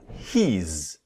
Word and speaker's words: he's: He's He's So I put the H I I Z here because he's one syllable, not he is, but he's.